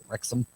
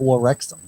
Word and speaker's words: Wrexham: Wrexham. That's what it's called. WREXHAM. How do you know it's not War Wrexham? I know it's not. They're British. They wouldn't pronounce it that way.